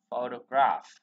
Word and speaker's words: photograph: Chữ O này nó không được nhấn ha, nó chuyển về ơ, chưa?